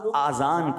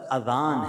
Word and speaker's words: اذان: بعض لوگ آذان کہتے ہیں، یاد رہے پہلے اذان کہتے کس طرح ہے، اس کا تلفظ سے بچ لیں. آذان اذن کی جمع ہے، اذن کہتے کان کو، یہ آذان نہیں ہے، یہ لفظ اذان ہے، ٹھیک ہے.